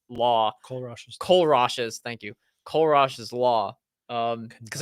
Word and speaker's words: Kohlrausch: it almost sounds like the I'm not gonna pronounce the name right. Kohlrausch's law. Kohlrausch's.